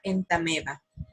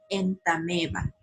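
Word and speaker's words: Entamoeba: ejemplo se escribe en está nueva pero se pronuncia en tame va si ustedes recuerdan los nombres científicos se escriben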